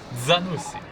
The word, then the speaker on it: Zanussi: Zanussi. You know, if you pronounce it the Italian way.